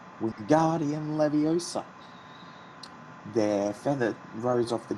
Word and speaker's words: Wingardium Leviosa: Wingardium Leviosa, he shouted, waving his long arms like a windmill. You're saying it wrong, Harry heard Hermione stammer. It's Wingardium Leviosa. Make the gar nice and long.